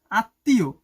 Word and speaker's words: আত্মীয়: শব্দের মধ্যে ম ফালা থাকলে সেই বর্ণ উচ্চারণে দ্বিত হয়। মানে ডাবল হয়ে যায় এবং সামান্য অনুসিক হয়। মানে নাকে বাজে কিছুটা। যেমন আত্মীয় মনে হয় যেন লিখ সরে আ ত।